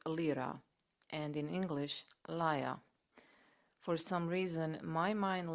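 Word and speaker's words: lyre: about a musical instrument which in Greek is pronounced lra and in English liia for some reason my mind landed somewhere in between and I kept repeating Lear in some languages this might be the right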